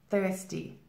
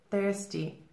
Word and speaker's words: thirsty: form of approval now careful here with the pronunciation we have the th here thirsty thirsty remember to stick your tongue out and pull it back in but the thirsty thirsty